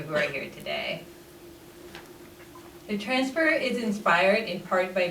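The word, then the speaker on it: XFR Collective: preserving audiovisual material the transfer collective which is pronounced transfer is an organization i work with outside of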